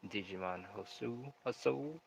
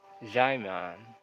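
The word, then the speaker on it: Djimon: pronounce that actor's name Digimon Hasao. It's Digimon rhymes with diamond. Diamond. A dark magician is learning some dark moves, some dark Kama Sutra. The D is silent. So it's Jaimon.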